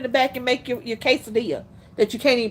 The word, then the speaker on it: quesadilla: on that kioskadilla the quesadilla cheese I don't know why can't nobody pronounce quesadilla okay so what is a bunch of syllables but it's just it's like two words quesa DIA nope what's gadilla kioscadilla what